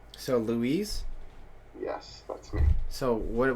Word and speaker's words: Luis: He's exaggerating my pronunciation of the name, but it's basically Spanish. I'm Mexican. So Luis?